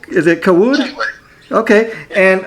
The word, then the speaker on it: Cawood: Now, did I pronounce the last name right? Is it Cawood? Cawood. Okay. And Cawood, yeah.